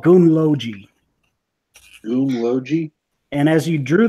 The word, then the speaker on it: Gunnlogi: So just how it sounds.